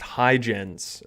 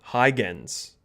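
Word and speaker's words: Huygens: according to the internet it's pronounced hygens okay or a hard g okay higgins all right okay connection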